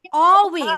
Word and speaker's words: always: should be silent here L should be silent here so you supposed to pronounce it like always okay again see তারপরে